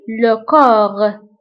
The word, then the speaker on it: corps: فبالنسبة لكور نكتبها ب PS في آخر الكلمة، ولكن لا ننطقها، نقول لكور.